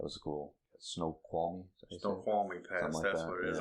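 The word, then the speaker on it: Snoqualmie: yeah yeah that was a cool snow qualy snow qualy pass that's what it is I always mispronounced it yeah pretty area oh yeah it's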